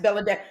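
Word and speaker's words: Belle-a: B E L L E hyphen A pronounced Bella like that girl Ladasha L a dash A and that's how they pronounce her name.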